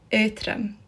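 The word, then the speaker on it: Aotrom: galek's speaker and this is how you actually pronounce them redox dragon is called earthram ethram and this means light and that's light as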